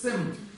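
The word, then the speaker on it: སེམས: Са читается? Нет. Да, будет читаться, если была здесь? Нет, никогда не читается. Сэм.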